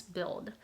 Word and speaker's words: build: Now, maybe the difficult point would be this right here, right? L, like build. Like, what do you do with this sound?